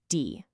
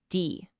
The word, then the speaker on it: die: Now, whenever you see this one, I want you to think of a long E sound, just like in the English word see or be. It's not a short I sound, okay? It's a nice, long, drawn-out E.